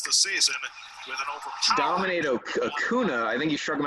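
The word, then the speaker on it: Acuña: Have the accent over the end. Acuna.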